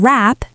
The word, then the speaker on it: wrap: Notice that the W in wrap is silent. You do not say the W.